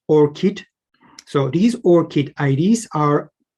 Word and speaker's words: ORCID: of open research and contributor id pronounced or kit so these orchid ids